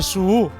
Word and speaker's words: Suu: És a dir, realment es pronuncia Su-U. Su és una U geminada.